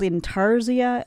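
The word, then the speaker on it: intarsia: I think it's called Inarzia.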